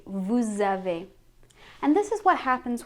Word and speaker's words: vous avez: So normally we say vous, but because it's being followed by a word that starts with a vowel, you have to link it. And then we say vous avez.